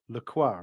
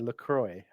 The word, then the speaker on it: Lacroix: asking about pronunciation of laqua right yeah I looked this up earlier because obviously there's the water isn't there lroy but that's apparently an Americanization of laqua which literally translated means the cross you're welcome yes but